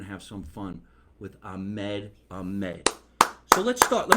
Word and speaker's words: Ahmed: said it right yeah ah mad yeah you gotta you gotta you gotta extend the H there's no C or K in there it's ah man wow